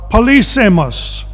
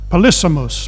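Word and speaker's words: polysemous: was in some respects policemas actually i think you pronounce it polysimous but it means polyseymous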